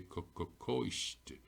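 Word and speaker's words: coiste: And now I can see back here, my O for tells me my C is a broad K, koisht.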